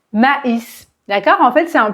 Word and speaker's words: maïs: U et en fait le tréma c'est un signal qui permet à votre cerveau de comprendre qu'il faut prononcer chaque lettre séparément par exemple ici s'il n'y a pas de tréma on va prononcer mais mais parce que a I se prononce et un e ouvert mais mais si je mets le tréma on va prononcer ma maïs maïs d'accord en fait c'est